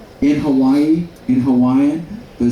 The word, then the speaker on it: Hawaii: Hawaii. So the I is pronounced as an E. And we said, what about the E? The E is pronounced as an A.